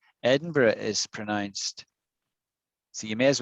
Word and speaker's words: Edinburgh: don't pronounce it right edinburgh is so you may as well learn it right right it's edinburgh not edinburgh no it looks like berg that's a good guess when you look at it you eyeball it you